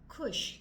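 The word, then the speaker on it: खुश: if you want to know how exactly you pronounce Kush k h u hush yes me Kush Kush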